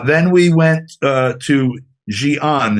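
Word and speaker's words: Xi'an: the country uh then we went uh to Gian it's spelled XI apostrophe a-n um and that's about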